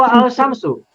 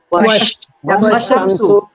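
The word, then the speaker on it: والشمس: Asyamsu diawali wa, maka bacanya menjadi macam mana? Wasyamsu atau wa al-syamsu? Wasyamsu. Alifnya dibaca tidak? Tidak. Alifnya tidak boleh dibaca.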